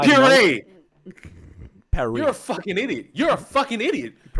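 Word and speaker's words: Purr-ee: I pronounced it as Paris. No, it's puree.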